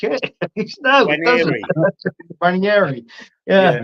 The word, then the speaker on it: Nwaneri: Nwaneri. Yeah. You say N, you've got to say N, because it starts Nwaneri. Nwaneri.